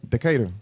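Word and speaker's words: Decatur: County of which how you say it again decada decada is the county seat wound wound up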